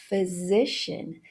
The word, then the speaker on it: physician: Second word, physician. Esse PH de physician tem o som do F.